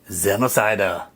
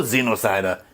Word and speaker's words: Xenocider: one copy two copies this is xenocida or xenocider depending on how you want to pronounce it let's check it out